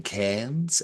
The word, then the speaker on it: Cairns: Cameron Cairns and Colin Cairns. I'm pretty sure you Oh, pronounce it like, yeah, the cap, uh, the capital of far north Queensland.